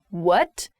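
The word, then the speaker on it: wut: pronunciation of this is what what so a very strong u sound this comes from the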